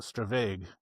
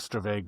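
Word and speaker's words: stravaig: Well, I pronounce it stravag. Um, it's a Scottish word and I'm not Scottish, but I think stravage.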